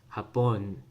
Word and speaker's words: Hapon: Second stress on that last syllable, or the stress is on that last syllable, hapon, right?